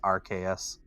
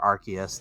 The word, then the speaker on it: Arceus: out the pokemon legends rks and or arceus depending on how you want to pronounce it and it's actually quite